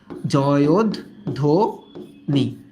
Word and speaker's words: জয়ধ্বনি: এটার উচ্চারণটা কেমন জানো? এটার উচ্চারণ এরকম যে জয়োধ্বনি।